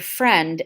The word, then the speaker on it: friend: how does remembering that the word friend ends in e-n-d helps students to remember it is spelled with a silent I on page 219.